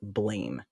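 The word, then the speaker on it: Blame!: this Netflix film called blame it's actually pronounced blam like the sound of a gun when you fire it so nobody calls it that it looks like blames that's what we call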